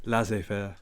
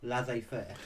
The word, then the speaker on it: laissez-faire: Never heard of that before, but I'm going to try and learn how to pronounce that first. How do you do it? Laissez-faire. Laissez-faire.